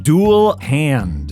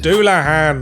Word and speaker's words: Dullahan: I got this one duel hand duah hand it's a Headless Horseman